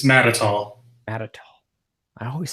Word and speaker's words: Matatall: always cleaned it up it's mad at all mad at all I